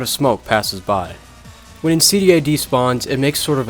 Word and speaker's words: Insidæ: This is Insidæ, and yes, that is how you say it.